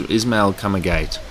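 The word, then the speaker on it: Ismaël Kamagate: is he not Japanese no uh that your pronunciation was so Japanese uh is isma kamagate but he um he looks I I did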